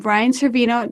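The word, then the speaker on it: Brian Cervino: of web tools TV and today we have Brian Cino did I pronounce that correctly Bri you got it from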